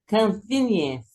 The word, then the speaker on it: convenience: O forte é aqui, né? No V, né? Convenience. O E é mudo, né? Convenience. Então, esse com aqui, ó, pronuncia convenience, ok?